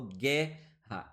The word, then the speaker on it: guerra: Em guerra, esse U aqui ele não é pronunciado, porque se ele fosse pronunciado, nós falaríamos guerra, e eu não falo guerra, eu falo guerra.